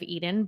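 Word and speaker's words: Eiden: going to be it's going to be Eden but with an I pronounced like the Garden of Eden but spelled like identity i d en and that is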